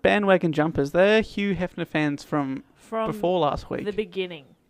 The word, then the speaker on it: Hugh Hefner: Hugh Hefner is correct. You're not meant to pronounce the G, are you? Hugh Hefner. Hugh Hefner.